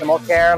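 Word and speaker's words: Simmelkjaer: my name is similare it's pronounced similare like Obamacare and I'm the CEO of New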